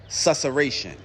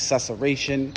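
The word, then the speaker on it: susurration: And the word of the week this week is susation. That's right. The word of the week is susation. It is spelled s u s u r r a t i o n.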